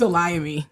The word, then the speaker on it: Olayemi: up too and it's it's a Liam me that that that chatter was right that time